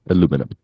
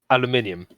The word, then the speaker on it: aluminium: our American flag on the shiny ball of aluminum. That's it. Aluminium. Aluminum. Aluminium. What the fuck is it? Aluminium. Spell it.